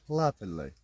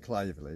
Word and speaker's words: Claverley: Druid's Wood in Claverley. Because apparently I keep saying Claverley.